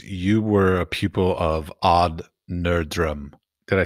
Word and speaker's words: Odd Nerdrum: found you because you were a pupil of odd nerdrum did I say his name correctly m in English it's all nerum yeah in English okay fair enough it's strange